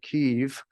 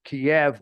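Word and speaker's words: Kyiv: was talking about well she said keev which is kind of the way we normally speak now in order to avoid either Kev or cave so there are different pronunciations actually this is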